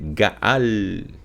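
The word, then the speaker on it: גאל: Então aqui nós temos as letras Gimel, Aleph e a letra Lamed, cuja raiz da pronúncia dela é Gaal, que significa redimir, agir como por exemplo, como um parente resgatador, certo?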